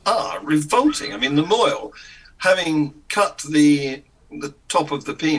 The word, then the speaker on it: mohel: Pronounce moil.